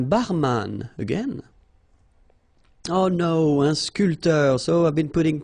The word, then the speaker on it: sculpteur: Un sculpteur. Same thing here. This P here is not pronounced.